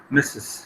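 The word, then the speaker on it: Mrs.: is called as mistress the pronunciation is uh missus so that's why you call is misses so it's actual meaning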